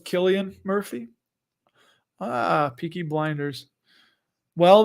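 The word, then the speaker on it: Cillian: how to say his name I know it's Killian Murphy ah peaky blinders well there you go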